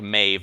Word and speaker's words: Maeve: all over again yeah that's a Celtic word and to my understanding if you're pronouncing right it's pronounced like Maeve not MIB I mean maybe Silly